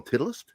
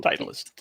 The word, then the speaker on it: Titleist: that make me giggle I've heard people call titlist no title Titleist do you not know